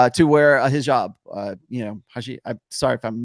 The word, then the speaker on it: hijab: But like, to wear a hijab, I'm sorry if I'm mispronouncing Hijab.